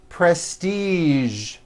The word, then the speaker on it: prestige: television very good now there are only a few words that have the voiced sound at the end a few of these words are the color beige the word massage and the word prestige okay now that you